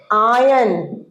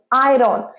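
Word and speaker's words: iron: সারিয়েছো এরপর ইস্ত্রী করা ইস্ত্রী করার ইংরেজি আয়ন নয় কিন্তু খুব ভুল উচ্চারণ আয়রন স্পেলিংটা আয়রন কিন্তু প্রোনাউন্সিয়েশন আয়রন আয়রন আয়রন নয় আয়ন কি বলবো যে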